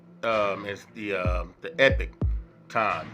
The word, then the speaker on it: Epoch Times: you would pronounce it saying you know the epochs times but it's really pronounced um as the uh the epic time so um correction on that my good people uh